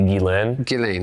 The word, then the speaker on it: Ghislaine: Is when Ghislaine, how do you pronounce it? It's technically Ghislaine.